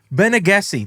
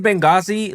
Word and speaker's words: Benegesi: But guys, we are back for part 2 with Benegesi. Did I fuck it up or did I say it right? No, you did. You did it right. Okay, so I said Benghazi last time.